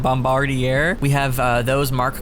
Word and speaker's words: Bombardier: locomotive today with uh i think their bombardier i think that's how you pronounce it bombardier we have uh those